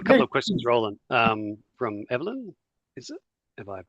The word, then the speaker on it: Evelyn: We did have a couple of questions, Roland, from Evelyn. Is it? Have I pronounced that properly?